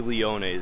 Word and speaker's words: Leone's: Is it pronounced Leon's or Leone's? Leone's. Oh, okay. So I just had a funny exchange with one of the guys that works over here. It's actually Leone's. I was saying it wrong, so that's a little embarrassing.